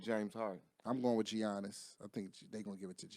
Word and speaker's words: Giannis: Giannis. The G is silent.